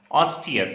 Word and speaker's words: austere: It is pronounced as austere, A-U-S-T-E-R-E.